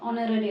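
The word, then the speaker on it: honorary: जेव्हा प्रोनन्सशन करतो तर एच हा सायलेंट असतो ऑनररी आपण त्याला बोलतो ओके तर त्यानुसार हा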